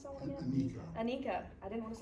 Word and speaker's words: Anika: At that same 2021 virtual March 4th, Holland got to introduce, how do you pronounce that one again? Anika.